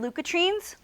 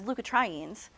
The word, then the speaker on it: leukotrienes: can see here and LU katrin's sometimes you'll hear them as leukotrienes I've heard people pronounce it both ways both of those things